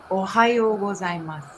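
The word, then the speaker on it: おはようございます: So can you, for the audience, can you pronounce it again, how you would say good morning? Ohayo gozaimasu.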